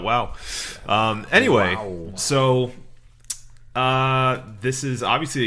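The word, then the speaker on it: Waugh: That's actually his name, Scott Wow. Never heard of him, but I thought he saw the name and was like, aghast. I can't pronounce this. No, it's, Wow. It's actually Scott Wow.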